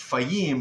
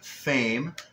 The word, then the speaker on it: Fahim: His name is, it's Fahim, but it's pronounced Fame, and he's out in New Jersey.